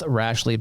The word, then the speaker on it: Rashleigh: It's like Ashley with an R in front of it.